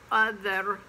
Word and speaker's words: other: but it's cover and same with other it looks like it might be over oh the other other and son as in